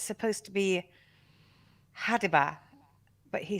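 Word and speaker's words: ha'DIbaH: to mean animal and it's supposed to be hadiba but he says habitat which apparently um is also the same mistake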